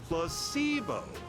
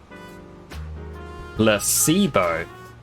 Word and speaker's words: placebo: to our vocabulary today repeat after me placeo the stress is on the middle syllable placeo very good you're feigning